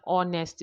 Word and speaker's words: honest: For example, an a, an honor, an honest man. So we cannot say a ha, no, because the H there is silent.